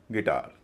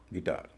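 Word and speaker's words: guitar: जी यू आई टी ए आर गिटार। यहां भी यू का कोई रोल नहीं है। गिटार एम ओ एस क्यू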